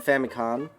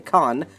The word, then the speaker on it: Famicom: design launch of the famicon con which is technically correct because it's called family because the n syllable is just an n which you can read as an m as well uh read game over